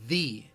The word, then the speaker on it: the: word duh okay now when people emphasize the word though you might hear this is when you might hear them say thee instead of the you might could say thee so you know personally